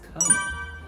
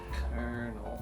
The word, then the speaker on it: colonel: confuses people so badly and that word is kernel colonel obviously doesn't have an r in there but that's how we say it kernel because it spelled like cook yeah yeah so